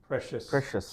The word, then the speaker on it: precious: Okay, so the ring is very Precious to me.